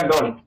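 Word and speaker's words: don't: वो अगर बोलेगा बोलेगा डोंट और कोई नया सीखने वाला होगा वो बोलेगा डोंट डोंट टी जो है ठोकर जैसा लग रहा है ठीक है इसलिए हम टी को भी साइलेंट कर देते हैं जैसे बोला जाता है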